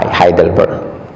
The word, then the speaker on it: Heidelberg: Hai kalau engak Sal Kalau tulisannya e eh Jerman itu bacanya i g kalau EU bacanya o Euro orang Jerman bacanya O hei dibaca ha heidelberg itu di Turki heboh